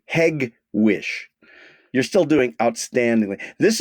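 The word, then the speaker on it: Hegewisch: w i c uh hedgewick very close very close it's a hard G heg Wick wish you're still doing outstandingly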